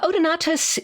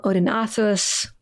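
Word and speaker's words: Odaenathus: odenathus and uh Pat I've heard you refer to him as Odin not instead of odenathus yeah odonus is the Greek SL Latin version of his name and his name in Syrian which is itself a member of the Semitic language family would have been something like OD not so you can call him Odin you can call him odinos you can call him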